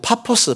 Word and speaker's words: 파포스: 구브로 섬에 있는 반대편에 아 그 바보라고 했네 바보가 아니고 파포스 바 버스 우리 할아버지들 발음이 좀 민망할 때가 있습니다 어 바보 가지고 퍼스